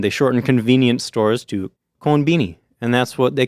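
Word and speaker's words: コンビニ: what they do is they pronounce it in Japanese and then they a lot of times shorten it to something kind of cuter so they saw American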